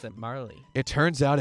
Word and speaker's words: Marle: Her name is Marl. So, if you ever played the game and you see that it's written M-A-R-L-E. Marley, yeah. I always pronounce it Marley.